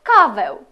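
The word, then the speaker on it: kawę: рука еу земби ренка в кінці ж слів вона промовляється як еу пієв кавев Я п'ю каву еу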